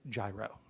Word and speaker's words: gyro: how to pronounce Bureau the correct the correct pronunciation is gyro for this reason our government does not in